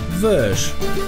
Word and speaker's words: Vosges: Francuską nazwę pasma pisze się Vosges, ale żeby nie było za łatwo, wymawia się ją Vosges.